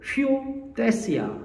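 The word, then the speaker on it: υἱοθεσία: 헬라어로 휘오데시아 한번 발음해 볼까요?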